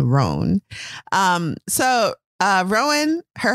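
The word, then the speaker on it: Roan: so her husband's name kate's husband's name is rohn and i'll say rowan because that's easier for me but it's spelled r-o-a-n rone um so uh rowan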